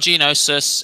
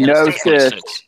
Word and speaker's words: gnosis: It says it's 1 genosis and appearance plus empathy. Gnosis. It's pronounced gnosis.